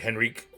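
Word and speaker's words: Henryk: H E N R Y K. Okay. And R Y R Y K. Yes. So you can even pronounce like Henrik.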